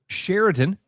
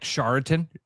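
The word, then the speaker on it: Chariton: or add them or sherin which looks like charitin. It's C H A. But again, it's more that's more like Nevada. And it's just a different variation. But when you look at it, looks like Charatan. Like almost looks like Charlton.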